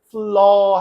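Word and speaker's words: flaw: 나오는 단어부터 확인할게요 이거는 플러 해서 오 하고 오우 하고 이렇게 입을 구부리지 않아요 이중 모음이라 그러죠 오우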